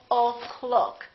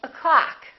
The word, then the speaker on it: o'clock: is reduced in that in this case the first syllable is reduced the second syllable is stressed so this one disappears and becomes this up sound up so we say o'clock we don't say oh